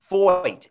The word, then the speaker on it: Feucht: Feucht, F-O-Y-T. No, it sounds like F-O-Y-T, but it's F-E-U-C-H-T.